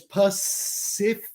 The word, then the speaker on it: Pacific: He visto algo en Facebook súper interesante, que la palabra Pacific Ocean tiene 3 Cs y todos se pronuncian diferentes. So es Pacific, así que es como S y K, Pacific Ocean. Así que la tercera es como SH.